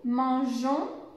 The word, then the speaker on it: mangeons: donc il faut rajouter le eux pour pouvoir prononcer nous mangeons des crêpes sinon la prononciation ne serait pas